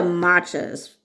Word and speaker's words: Macha: This is Macha, by the way. It's spelled m a c h a. And every time I look that up it gives me macha tea. And it's like it's spelled this, not maca.